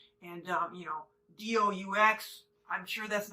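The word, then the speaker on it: doux: want something really sweet it's d-o-u-x i don't know how to say it i'm gonna say do but i know that's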